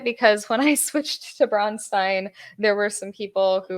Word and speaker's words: Braunstein: Now, I say Bronstein. I know the proper pronunciation is Bronstein. I say it because when I switched to Bronstein, there were some people